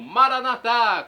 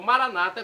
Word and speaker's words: Maranata: e agora do aramaico Eu Clamo maranat como dizemos nós católicos ou Maranata como dizem nossos irmãos separados os evangélicos ou protestantes não importa pronúncia o significado é o mesmo vinde Senhor Jesus um